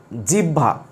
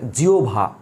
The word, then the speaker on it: জিহ্বা: অনেক সময় স্টুডেন্টরা বলে জিওভা জিওভা বলে কিন্তু আসলে এটার উচ্চারণ জিওভা না এটার উচ্চারণ হবে অন্য কিছু চলো আমরা দেখে নেই